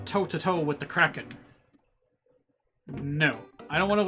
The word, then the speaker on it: Kraken: it is time to challenge the Kraken it's pronounced Kraken now there's a song I don't any of